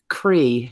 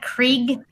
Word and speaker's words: Creigh: Cree, C-R-E-I-G-H. Oh, that guy who's not real. Yeah. Yeah. Wait, isn't that Krieg? No, it's Cree. It's an Irish surname.